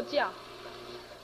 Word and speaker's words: 觉: 睡觉也是静，真正觉者人家也是静，同样一个字也念作觉，也念作叫。